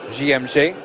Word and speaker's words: JMG: Seydou ones who have come through the famous JMG Academy, or GMG, if you are using the French pronunciation.